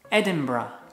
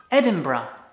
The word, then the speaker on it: Edinburgh: The correct pronunciation is Edinburgh. Edinburgh.